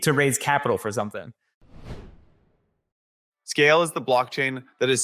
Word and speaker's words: Skale: That's Skale, spelled with a K.